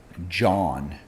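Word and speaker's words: jawn: do you spell it j a w n John like that John over there is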